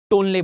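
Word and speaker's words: Tonle: जिसे कहा जाता है तोनले सैप, या फिर इंग्लिश में इसे सही प्रोनाउंसिएशन के साथ टोनले बोलते हैं।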